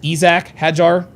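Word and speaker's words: Isack Hadjar: the early going that Isaac Hajar uh is going and I don't know if he like he says he likes it pronounced Isak Hajar Isac.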